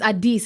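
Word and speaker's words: Addis: right anymore but yeah you almost are but you're saying ab and it's Adis it's a d and not a that's what got me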